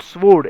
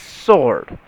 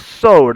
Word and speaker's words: sword: It's not sword, it's sword. So next time, if you want to show someone, okay, or you want to say that I know better English than you, ask them to pronounce this word, and you will be one step ahead. It is sword, not sword.